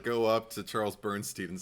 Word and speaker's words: Bernstein: The score is Charles Bernstein.